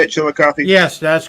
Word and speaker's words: Chillicothe: Is that how you say it, Chillicothe?